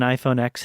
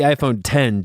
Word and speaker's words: iPhone X: Matt Desperately Seeking an iPhone x he it's pronounced the iPhone 10 Joel is it yes I'm going to call it the iPhone x because it doesn't make